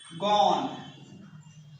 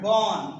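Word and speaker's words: gone: इसका होता है गॉन। क्या पढ़ा जाएगा? गॉन, गोन नहीं, गॉन।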